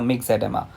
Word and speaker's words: myxoedema: Okay, the O is silent over here. You can pronounce it as a mixed edema. So mixed edema जो है वो किस में दिखाई देता है?